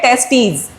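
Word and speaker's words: testes: It includes a pair of टेस्टीज। देखो यहां पे लिखा है टी ई एस टी ई एस। बच्चों ये इसे हम प्रोनाउंस करते हैं टेस्टीज।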